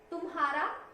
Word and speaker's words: तुम्हारा: तुम्हारा, तुम्हारा, हम बोलते हैं तुम्हारा नाम क्या है, तुम्हारा कोई शब्द नहीं होता, ह अक्षर आना चाहिए, तुम्हारा ह का स्वर आना चाहिए, ठीक है।